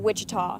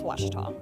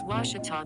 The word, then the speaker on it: Ouachita: University back in Texas everybody pronounces it Wichita but really it's Ouachita Ouachita Washington how would you pronounce it it's Washita Baptist University get it